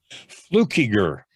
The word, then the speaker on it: Fluckiger: last name so i don't mess this up fluke eager fluker i've always and a little bit of